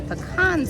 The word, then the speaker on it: pecan: if you leave the pecans off, it's pronounced pecan, by the way, because a pecan is something you can.